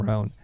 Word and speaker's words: Rohn: And Jim Rohn's like the godfather of business philosophy. He's passed away. And Rohn is spelled R-O-H-N.